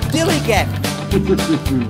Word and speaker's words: DILLIGAF: And I can relate to their attitude too in a word, dillygaff. That's spelled D-I-L-L-I-G-A-F, dillygaff.